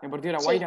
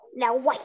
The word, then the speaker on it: Deportivo La Guaira: Cerro Porteño, Atlético Mineiro en América y Deportivo La Guaira. ¿Se pronuncia así? ¿Deportivo La Guaira? Sí, está perfecto. Sí. Sí, La Guaira.